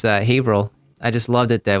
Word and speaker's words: Haverhill: Kudos to you for pronouncing it properly. Most people would say Haverhill, but it's Haverhill. Oh yeah, no, it's. I learned quickly. It's Haverhill.